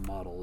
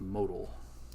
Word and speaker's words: modal: just call this Al it's not model it's modal okay so if you click